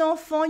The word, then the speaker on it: enfant: In un enfant, you have a silent T at the end and two nasal sounds. En and fan. Enfant, enfant.